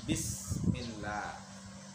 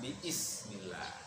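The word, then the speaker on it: بسم الله: Makanya baca bismillah, bukan biismillah, karena hamzahnya hamzah wasol.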